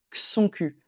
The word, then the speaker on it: que son cul: Alors, quand on parle naturellement, rapidement, on va plutôt on prononce pas vraiment le e de que, on va dire que son que son cul.